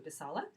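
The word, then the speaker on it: писало: Neutro, писала, con o, pero pronuncio писала.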